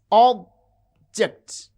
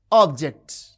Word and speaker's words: object: Consider a word like object. You can see object. object. The first syllable has prominence. It has extra force and full wall quality and jut this is unstressed.